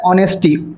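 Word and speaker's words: honesty: H silent होता है। ऑनेस्टी। ओ से हम इसके जो है प्रोनाउंस करते हैं इसे।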